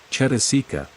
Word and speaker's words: cetasika: The Pali term cetasika, pronounced cetasika, is to be preferred to the English translations of this term which vary in different textbooks.